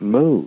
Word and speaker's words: Mu: is about the band Moo. And for all you garage rock heads out there, that is spelled M-U.